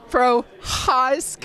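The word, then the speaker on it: Procházka: You probably got to get a little more in there. Prohaska. Yeah, it's Polish, so something like Prohaska, something like that.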